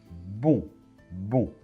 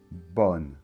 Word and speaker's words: bon: de la même manière eau et n se combinent pour former le son on bon et pas bonne non non bon d'accord bon